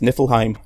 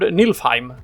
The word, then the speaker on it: Niflheim: In English, I've usually seen it spelled or pronounced Niflheim. Yeah, exactly. But I learned Nilfheim when I was Nilfheim or Nilfhem when I was in. But actually, they are correct with the English there.